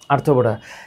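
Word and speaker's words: Arthropoda: এরপর হচ্ছে অ্যানেলিডা, আর্থ্রো, আর্থ্রো পোডা। এটা কেমনে মনে রাখবা? উচ্চারণটা কিন্তু আর্থ না, উচ্চারণটা হচ্ছে আর্থ্রো প্লাস এটার সাথে উচ্চারণ করবা হচ্ছে পোড়া। কেন?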